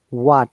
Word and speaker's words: what: and if you remember wh sound all the way son h is silent most of the cases okay so it is what yeah not what what h is think that there is no h what what yeah similarly